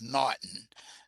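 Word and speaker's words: M'Naghten: for your quiz the norton rule is the first one that's how it's pronounced it's pronounced as norton the m is silent and it was it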